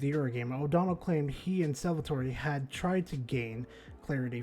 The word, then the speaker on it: Salvatori: Not in the bad corner, but in the corner pocket over here, and maybe Marty and Salvatore, that's how you say his name correctly, may be able to win this.